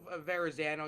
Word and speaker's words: Verrazano: Once you get to the Verrazano, you don't really. It's Verrazano. It's Verrazano. You gotta say it like this.